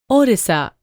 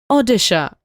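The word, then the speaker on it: ଓଡ଼ିଶା: Orissa was always pronounced as Odisha. In local language, and state government just brought in a notification to make it official. The state was spelled as Orissa by British because they have problems pronouncing Odisha.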